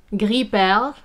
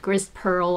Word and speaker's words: gris perle: Gris perle is the same color as pearl gray, or some people mispronounce it gris pearl or whatever.